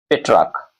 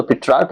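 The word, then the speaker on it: Petrarch: जिसका नाम है पेट्रार्क। इसको पेट्रार्क भी कहते हैं। स्पेलिंग है पी ई टी आर ए आर सी एच पी ई टी आर ए आर सी एच ऐसा ही है पेट्रार्क इसको पिटार्क या पेट्रार्क कहा जाता है।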